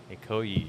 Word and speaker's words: Ikoyi: Ikoyi? Is that how yeah. it's pronounced?